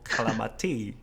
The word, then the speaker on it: Calamati: How to pronounce this in Italian? Leonardo Calamati. It wasn't too bad the way you pronounce it. Okay, it was quite right. Leonardo Calamati. Okay, yeah, that kind of the rhythm in the Italian pronunciation. Calamati.